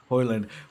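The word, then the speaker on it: Haaland: you say your name and then he says hoyland but which is it's important because we got Holland or Hollander however you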